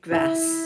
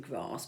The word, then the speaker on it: grass: You've always got to sing a North Country grass there, haven't you, to rhyme with lass. But if it really sticks in your throat, you can sing grass, but it doesn't rhyme with lass.